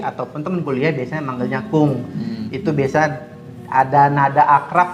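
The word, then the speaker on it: くん: 二藤君ねえ二藤君ってちょっとよくない Dalam pronunciation-nya bahasa Jepang, kung ya.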